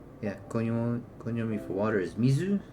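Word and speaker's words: 水: So when you see uh yeah coi for water is mizu. So when you see the kanji mizu standing by itself you read as mizu.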